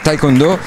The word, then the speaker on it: Taekwondo: Con noi c'è proprio il presidente della Federazione Mondiale del Taekwondo, dico giusto, la pronuncia è giusta, sì, Taekwondo.